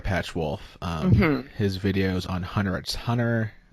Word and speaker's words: Hunter x Hunter: to pronounce it because the X is supposed to be silent right it was that